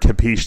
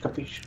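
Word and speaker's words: capisce: I used the word capiche the other day, and one of my Italian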